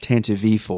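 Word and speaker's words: Tantive IV: I forget it's actually according to Audi books pronounced tant V4 tant V T correct tant V so um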